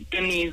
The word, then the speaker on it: Denise: And I think with Denise, which is commonly mispronounced as Dennis on this side, and with a surname like Clark, then yes, you're not quite expecting a Jamaican woman with dreadlocks.